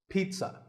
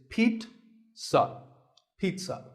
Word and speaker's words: pizza: today i had this pizza really i did it's not a pizza and it's not a pizza there's no z sound in this word it's pete pizza another food word that's